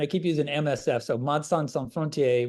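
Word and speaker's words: Médecins Sans Frontières: keep using msf so madsan Frontier which is the French pronunciation if you're French speaking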